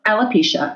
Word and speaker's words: alopecia: based around, and I'll probably say it wrong, alopecia. Did I say it right? Alopecia.